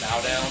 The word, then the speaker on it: baüdaün: My music project is called The Baudaun, spelled like the Bauhaus.